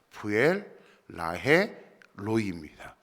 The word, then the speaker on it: 브엘라해로이: 저도 그렇지 부엘라 헤로이이 두 단어처럼 번역하는데 원래는 세단입니다 부엘 라헤 로이입니다 이 같이 발음하다 보니까